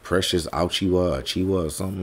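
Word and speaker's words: Achiuwa: this young brother's name man how do you pronounce it achua okay precious achua all right he a dude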